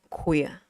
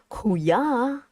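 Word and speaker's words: quy: Queer. Even though you see like, oh my god, vowels, sorry, consonant, vowels, consonant, vowels. So it must be kuya, but it's not kuya. It's queer. Let's got kicked out of what?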